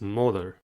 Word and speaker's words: molar: The last word is molar. Molar has 2 syllables and the stress is at the first one.